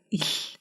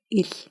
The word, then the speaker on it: Л: If you can pronounce letter F, then you can pronounce letter il. It's like you pronounce the English L, but in a voiceless way. The air is just passing through your mouth.